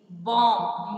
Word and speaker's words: bomb: These letters are called silent letters. Now, for example, H-O-N-E-S-T, honest. R, H-O-U-R, knee, K-N-E-E, no, K-N-O-W, comb, C-O-M-B, bomb, B-O-M-B.